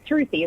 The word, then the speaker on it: Sruthi: You were calling me by my nickname, Sruthi, so it feels like we've known each other for a long time. It's pronounced Sruthi? Yeah, so Sruthi, like Ruthie with an S in front of it.